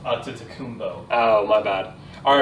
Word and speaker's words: Antetokounmpo: It's pronounced, that name, by the way, it's pronounced Antetokounmpo.